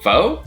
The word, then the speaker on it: pho: Pho? Pho. Pho? It's pronounced pho.